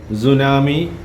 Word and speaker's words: tsunami: Okay, in this word, T is silent. Yes. And we say tsunami, but when we write, we have to start with T.